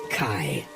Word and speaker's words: chi: It might look like an X, but you'll learn the hard way that it's pronounced Chi.